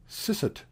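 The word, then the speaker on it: Eszett: So, for example, German has a letter pronounced sisset, which stands for the double S.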